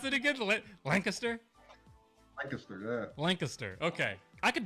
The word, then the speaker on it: Lancaster: Lancaster, yeah. Lancaster. Okay. I could do that. It's like you have to make the C a K.